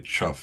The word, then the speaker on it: Chuff: He says, "It's with emphasis on the first syllable perhaps." Did you It's only a half a syllable. Just Just say chuff like everyone else does.